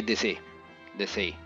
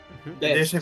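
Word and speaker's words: Desaix: Così facciamo il villaggio e De Sei. Come si pronuncia questo tizio? De Sei francese, De Sei.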